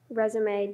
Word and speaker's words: resume: Resume definition, please. A brief account of one's education and professional experience. Okay. Alternate pronunciations, I guess.